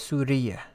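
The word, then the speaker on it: سورية: am syrian so again a male from syria would be suri and a female is suriya okay so this is the nationality anamin so the difference in pronunciation is really with this right surya is the country suri and suriya are the nationalities so then zainab says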